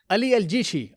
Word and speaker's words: Ali El Jishi: If I pronounced correctly, is it Ali Al Jeshi? Yeah, yeah, very good. Very close. Al Jishi, yes. Ali Al Jishi.